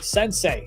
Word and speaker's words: Sensei: I mean, you had a couple of great plays by Sensei, that's how you pronounce his name, right? Yes, he went ahead and